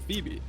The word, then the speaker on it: Phoebe: could see happening with Phoebe, because she's got 2 syllables in her name, a Fee and a B.